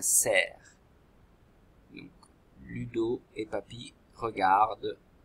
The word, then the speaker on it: cerf: Le cerf, ça s'écrit avec C, E, R et F muet, un cerf.